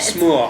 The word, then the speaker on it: smør: Smør. It's made with einkorn? This one was rye. Oh. Yeah. Anyway, this is empty. It's Danish bread. They spell it S-M-O-R, but it's pronounced like smør.